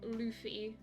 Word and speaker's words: Luffy: actually started watching it it's pronounced Luffy ah okay oh sure